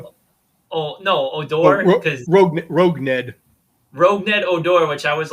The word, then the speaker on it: Rougned Odor: was joking, I go, like, how do you pronounce his name? Because I obviously misread it. No. Oh, no, Odor. Rougned. Rougned Odor, which I was like, rough odor?